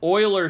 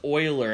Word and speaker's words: Euler: this is the edges all right moving on oiler serum se Euler it says Euler but it's pronounced Euler I promise I'm not telling you the wrong